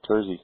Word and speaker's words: Terzi: guest today Troy what's your last name Troy tury kby tury how do you spell that t e r z i t e r z i tery oh cool that Mak I couldn't understand it